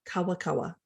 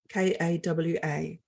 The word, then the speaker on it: kawakawa: And the first plant that we worked with is a plant called kawakawa, Kawa. And if you spell it back to front, it's waka.